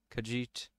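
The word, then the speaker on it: Khajiit: do let's change the ways first Imperial kajit kajit is that's how you pronounce it nor they just look pretty similar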